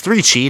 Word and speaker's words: 3CHI: that's really cool and it's three Chi not three chai remember when we actually